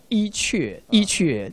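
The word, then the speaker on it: 伊阙: We pronounce Yi Que, the original name of this place.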